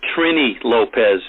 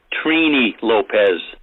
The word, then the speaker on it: Trini Lopez: Howie, it's not Trini Lopez. It's pronounced Trini Lopez.